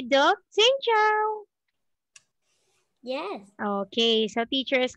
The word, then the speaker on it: Xin chào: Xin chào.